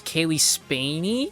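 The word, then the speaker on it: Cailee Spaeny: So, there was uh I think her name is Kaylee Spainy is how you pronounce her name.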